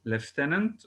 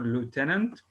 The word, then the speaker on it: lieutenant: governor sorry or lieutenant this word can be pronounced in two ways lieutenant or lieutenant both are correct commander in chief titans